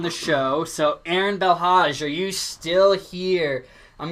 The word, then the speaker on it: Hodge: um excuse me if I say your last name wrong but Aaron the lodge bill Hodge yeah that's my be my dodge no Hodge Hodge be elh AG Aaron if you're